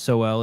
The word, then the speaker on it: Sowell: Hey, do you know who Thomas Sowell is over at the Hoover Institute? I know Thomas Sowell. Sowell, yeah, Sowell.